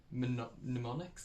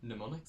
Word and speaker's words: mnemonics: how to pronounce that why is it an mn like who you decided that mnemonics like i mean silent m mnemonics that make sense or slander n mnemonics i don't know but memory